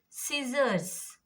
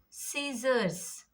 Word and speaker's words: scissors: Scissors, scissors, scissors. S and I. So after S and before I, E or Y, you have to be silent. C will be silent.